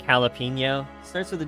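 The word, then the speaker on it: jalapeño: So like jalapeno starts with a J. We don't pronounce the J. Pronounce an H.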